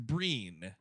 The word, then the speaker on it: Brian: them according to imdb trivia his name is pronounced breen okay breen gleason well a gleason uh famously